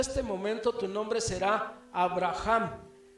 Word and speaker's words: Abraham: cambia el nombre y le pone avraham así se debe de pronunciar pero no lo pronunciamos bien todos les decimos